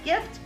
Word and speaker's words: gift: Let's listen to that word. G, gift. Is that going to be a j, or a g? It's a g. It's a hard G. So hard G. The gift goes to the hard G.